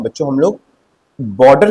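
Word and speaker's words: Bordeaux: लेकिन जब आप बोर्डे को, अब बच्चों लास्ट में यूएक्स लिखा हुआ है, लेकिन अगर आप यू के प्रोनाउंसिएशन पे जाएंगे तो इसे क्या करते हैं बच्चों, लास्ट के इन लेटर्स को नहीं पढ़ते हैं, दैट इज बोर्डे।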